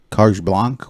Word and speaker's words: carte blanche: We gave you carte blanche.